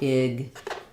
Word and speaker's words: exactly: And so there's something called the rule of three, that oftentimes when there's three consonants in a row in a syllable, we drop the middle consonant. So in this IPA would be with second syllable stress, exactly. So it'll still show it in the IPA in the dictionary, but what you'll hear is more like exactly.